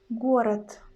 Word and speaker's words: город: In Russian word город, город, город. In the end, we've got letter D, but we pronounce in Russian as it is T.